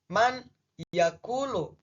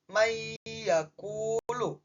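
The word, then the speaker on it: من يأكل: Secara harfiah, secara rangkaian kata baca awalannya itu man yaakulu. Tetapi karena di sini ya termasuk hukum bacaan idgam, maka nunnya seakan-akan menghilang. Jadi dibaca may yaakulu.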